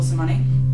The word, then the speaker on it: Sermanni: here in St Pan's old church with Rachel soney did I pronounce that way yes cool um first of